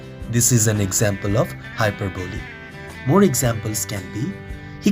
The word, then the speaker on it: hyperbole: In this video, I am going to tell you about hyperbole, euphemism and transferred epithet. What is hyperbole? Remember, the pronunciation is hyperbole, not hyperbole.